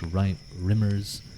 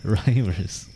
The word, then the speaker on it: rhymers: A statute of 1430 sought to limit those Irish rimmers, not rimmers, rhymers. It's R-Y-M-E-R, so it was sort of like, I couldn't pronounce it right.